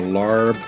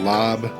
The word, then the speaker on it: larb: Lao lup, or lao larb, or lob. It's pronounced a bunch of different ways.